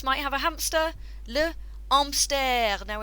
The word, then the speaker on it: hamster: have a hamster le amster now in french you don't pronounce the h often at the beginning of words so le amster but the spelling is